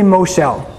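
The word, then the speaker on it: מושל: Everybody say Moshel. I would spell that M-O-S-H-E-L, Moshel.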